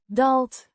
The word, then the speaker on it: daalt: Dalt means descends or goes down pronounced dalt with a short a sound like in cat.